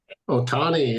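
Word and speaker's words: Ohtani: Am I pronouncing his name right? Otani, yeah, Dodgers.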